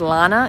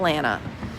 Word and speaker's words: Lana: When I say my name is Lana, it's not Lana.